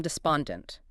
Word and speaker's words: despondent: source covering words from despondent all the way through disgruntled. Okay, first word up. Despondent. D S P O N D E N T. You hear that spawn part?